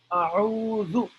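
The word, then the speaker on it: أعوذ: Uh, that a'udhu is pronounced in three steps.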